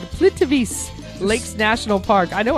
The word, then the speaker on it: Plitvice: Croatia has this beautiful, it's called Plitvice Lakes National Park. I know I said it right. Sure it's safe to go to these places? Plitvice.